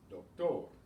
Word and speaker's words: doctor: Why is doctor stressed on the last syllable? Because it doesn't end in an N or an S or a vowel. It ends in another consonant, so it's stressed on the final syllable, doctor. Gil only has one syllable,